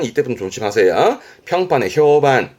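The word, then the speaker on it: 評判: 평판 발음이 반갑니다. 반. 이때부터 조심하세요. 평판에 효반. 효반.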